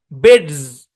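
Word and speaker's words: beds: যেমন দেখেন এই উদাহরণটা, বেডস, এটা এসটাকে জেড এর মতো উচ্চারণ, একটা বুঝেন ভাই তাহলে বুঝতে পারবেন। এই যে এসটা আছে না, এই এসটাকে জেড এর মতো উচ্চারণ করতে হবে ভাই, কারণ এর আগে ডি আছে, দেখেন ডি আছে।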